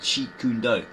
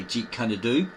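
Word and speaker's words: Jeet Kune Do: and the founder of cheat kundo. Notice there we didn't say j kadu or j canad or that sort of rubbish as people say they can't pronounce properly.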